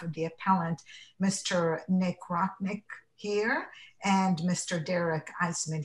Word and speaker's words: Rocknick: Again, my name is Nick Rocknick, and I represent Dolphin Aviation. Oh, and I mispronounced your name.